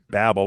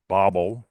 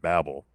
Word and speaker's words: Babel: And then there's a there's a scholarly journal called Babel or uh Bobel, depending on where you are in the world. They gave me all the fit people gave me gave me uh hassle when I kept pronouncing it Babel.